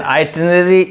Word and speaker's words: itinerary: So the right way of pronouncing this word is itinerary, and itinerary is basically your planned route or journey.